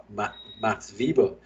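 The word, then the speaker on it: Max Weber: 1920 to 1947 where Max Vivo uses and if you remember Max feeble any of you all because it's Germany uh because he's German the W is pronounced like a V so labor was developing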